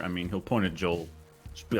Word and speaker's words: Joel: And you just add an L sound. It's Joe. I don't know how y'all spell Joe, but it's Joel. It's just Joel. So like Joel.